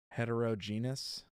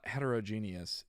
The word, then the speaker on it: heterogeneous: the expected project time it really should be hetrogeneous I don't think that's how people pronounce that I'm pretty sure they say heterogen heterogenous yeah they say heterogeneous but uh I'm a heterogeneous no uh heterogeneous is usually how they say that but it if they're going